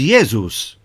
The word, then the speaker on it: Ἰησοῦς: shall name him Jesus our English pronunciation of the name Jesus comes to us through the Greek the language of the New Testament the name in Greek is yeus the name in Hebrew is Yeshua it was a common